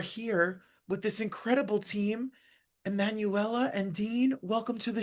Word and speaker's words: Emanuela: Emanuela and Dean, welcome to the show.